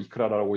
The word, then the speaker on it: ICRA: 디자인 포 테크놀로지, 기술을 도와주는 디자인 차원에서 소개해드릴 첫 번째 논문은 IEEE ICRA 이크라라고 읽기도 하고요.